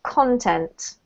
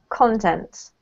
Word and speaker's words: content: And therefore, we have to emphasize the first syllable, which show users content. Content, right?